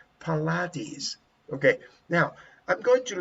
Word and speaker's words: Pilates: The same as polities. Polities. How do you pronounce that? Polities. Pilates. Pilates. That's right. Pilates.